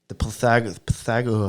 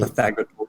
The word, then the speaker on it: Pythagoras: And then I put up the Pythagor. I forgot how do you say it. Pythagor. Pythagoras.